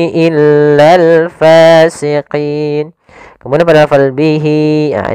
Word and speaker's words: فاسقين: Hati-hati dalam melafalkan fa, harus ada nafas yang dikeluarkan karena dia sifatnya samus, jaroyanun nafas. Jangan pasikin dengan p gitu ya. Banyak yang mungkin ada yang membacanya dengan pa gitu ya, dengan p. Ya, harusnya tidak dibaca dengan p.